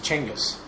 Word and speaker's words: Genghis: did you know that the proper way to pronounce his name is changus changus yes i like genghis it sounds way better